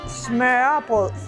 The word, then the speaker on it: smørrebrød: So you have never had smørrebrød before? No, I haven't. How do you say that? First, smørrebrød. Smørrebrød.